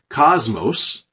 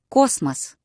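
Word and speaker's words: Космос: Cosmos so we say Cosmos and in Russian it's Cosmos notice how the first o which gets the stress is nice and deep Cosmos and the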